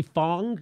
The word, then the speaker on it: Fang: right lee here's lee fong is that how you pronounce it i think it's spelled fang but i think he says fong bang sounds scary the